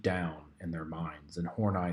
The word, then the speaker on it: Horney: name's karen karen hornai it's pronounced horney i had to look that up um uh